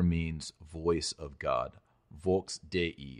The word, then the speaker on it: Dei: Vox Dei. It's D. E-I, and you pronounce that not as day, as in have a nice day, but day-e.